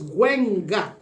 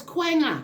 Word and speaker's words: Quenga: Anyway, this, we can pronounce Gwenga culture. Gwenga. How about that? Quenga. Oh, it's Quenga. Yes, ma'am.